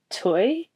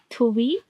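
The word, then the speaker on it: Thuy: I My favorite song currently is Cloud 11 by Toy. Toy. How do you say that? Toy. Tui. It's t h u y and there's like two dots thingy. Yeah. On top of the u toy.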